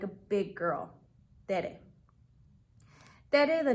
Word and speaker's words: Tere: turn out the way you hope first grade Tere tells her story my teacher was so pretty